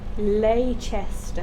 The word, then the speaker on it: Leicester: That's how you say Leicester. Yeah, unfortunately, that's how you pronounce it, which Yeah, is dumb stupid.